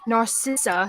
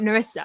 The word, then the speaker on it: Narcissa: for the longest time apparently it's not a sister like narcissist um i just learned that on thursday that it is narcissa and not nerissa i've been saying erisa